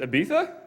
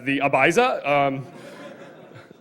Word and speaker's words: Ibiza: I think the correct pronunciation is Ibiza, and us Americans would pronounce it as the Ibiza.